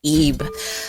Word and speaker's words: Ib: in my early teen years and it is eeb a horror rpg and it's really great story